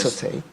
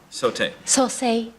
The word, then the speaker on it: Sosei: Okay, Sote I haven't seen before. Sosei. Sote-i. SS. Say. E. Yes, revival. You took the words right out of my mouth. I'm glad you know how to say it.